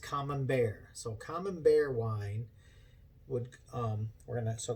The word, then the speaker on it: Camembert: So we're gonna go in, and the wine that we're gonna do is it's spelled Camembert, but it's pronounced Camembert.